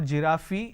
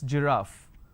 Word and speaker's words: giraffe: in terms of pronunciation another example we have giraffe starting with g it's not jirafi it's giraffe and we have a